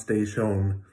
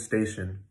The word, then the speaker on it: station: And the second one, station, that looks like an O, but it's never pronounced station or station. It's always station, okay?